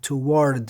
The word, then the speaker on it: toward: It would sound a little strange if you said toward and deliberately pronounce the r.